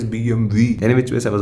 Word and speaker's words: BMW: so easy to pronounce the BMW is not BMW it is BMV any which way I